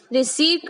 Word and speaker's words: receipt: हम इसे pronounce रिसीट करते हैं पर स्पेलिंग में पी आता है, वो साइलेंट होता है।